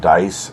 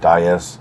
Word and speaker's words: Dyess: I've been told is actually pronounced dice instead of D.